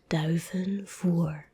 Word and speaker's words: duivenvoer: So duivenvoer.